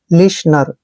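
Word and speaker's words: listener: एन ई आर देखिए यहां पे जब भी ई से पहले टी आता है तो वहां पे टी साइलेंट होता है एल का उच्चारण हमने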